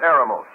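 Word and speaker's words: ἔρημος: it up in the Greek is the word aramos e r m o s we would spell it in English which means literally desert or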